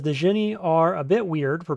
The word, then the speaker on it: Djinni: Yeah, the corre correct pronunciation is Jinny. It's It's not technically genie. It is jinny with a J. No D.